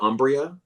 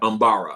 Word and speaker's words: Umbara: Tiffany out of DC she says now make sure I pronounce is it Umbria? Yeah. Um Umbara Umbara I'm sorry.